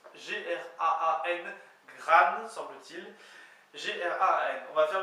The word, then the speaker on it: graan: Donc, au présent, donc je fais, ça s'écrit G-R-A-A-N, gran, semble-t-il.